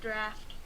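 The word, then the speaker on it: draught: I know it looks like drought but you pronounce it draft.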